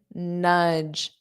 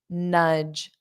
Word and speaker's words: nudge: Notice this pronunciation, nudge, udge. It rhymes with fudge. If you know the pronunciation of that, nudge, nudge.